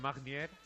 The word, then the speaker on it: Magnier: Ell és en Magnier. Ho he pronunciat bé? Buenos días. Magnier o Magnier. Bueno, Magnier. Fonéticamente la GN es la ñ española. Magnier. Magnier. La R no se pronuncia.